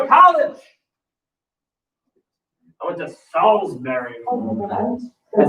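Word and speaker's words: Salisbury: where they go to college I went to Salsberry that's how you pronounce it not salesberry sber they pronounced things weird down there like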